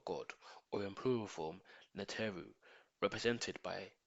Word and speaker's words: Neter: Neter is the original Egyptian word for god, or in plural form, Neteru, represented by 3 axe hieroglyphs, meaning gods. Neter phonetically sounds like nature, n sound, and the Neteru represent the different elements of nature.